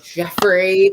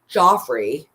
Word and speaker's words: Geoffrey: they're right there right jeffrey pachell wait wait what is the attorney call him joffrey joffrey i was like the dude doesn't even know how to pronounce his client's name like joffrey joffrey joffrey